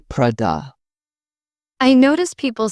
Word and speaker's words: Prada: Some pronounce Prada with stress on the da. Italians say Prada.